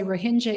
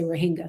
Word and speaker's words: Rohingya: photos here well first i want to say rohingya is the way that people who are rohingya pronounce their name the vast majority of people in the media and even academic circles say rohingya so you know it doesn't really matter what